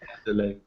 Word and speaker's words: Adeloye: I can never pronounce it right. You say it too quickly, E-Rock. Adeloye.